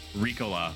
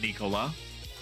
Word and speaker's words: Ricola: Ricola, not Nicola.